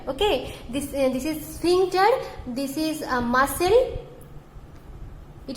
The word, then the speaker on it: sphincter: The pronunciation is sphincter. Okay, this is sphincter.